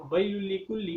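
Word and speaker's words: وَيْلٌ لِّكُلِّ: بڑی یا کے ساتھ، ویل لکل، حالانکہ واو کو ملانا ہے چھوٹی یا کے ساتھ، ویل لکل۔ اب دیکھیں دونوں میں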